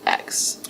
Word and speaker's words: Laux: officer named Charles Laux, I believe is how you pronounce it. It's Laux.